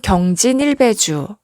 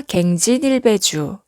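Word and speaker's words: 更進一杯酒: 앞서 설명드렸듯이 고치다의 의미로 쓰일 때는 발음이 경이고요. 다시의 의미로 쓰였을 때는 발음이 갱이죠.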